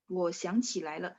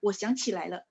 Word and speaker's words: 我想起来了: Lainnya baca nada 5 ya. 我想起来了. Ya. Sebenarnya sih nggak terlalu masalah, cuman biar kalau lai nada 2 kan bacanya kayaknya ketara banget ya. Jadi 我想起来了 langsung satu frase ya.